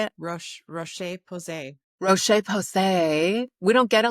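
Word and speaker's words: Roche-Posay: So Rochelle Posay did I pronounce it? Roche? Posay Roche? Yeah. How do I say it? Rocheposay.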